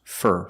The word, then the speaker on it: for: not at the end so it is not stressed it's pronounced fur fur she's looking for her